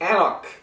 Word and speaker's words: anCnoc: the bottle we see anak and that's right we don't pronounce the C it's Gaelic and it means the hill because the Distillery the